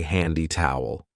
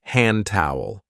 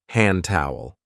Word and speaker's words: hand towel: careful of the pronunciation we don't usually say handy towel we link it and say hand towel hand towel down there we have